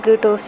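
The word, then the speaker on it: Kratos: क्रेटोस, मैं क्रेटोस भी बोलूँगा क्योंकि इसका नाम प्रोनाउंसिएशन क्रेटोस ही है, ठीक है।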